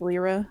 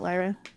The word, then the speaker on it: Lira: have so you're saying so it's pronounced lira not lyra i don't know uh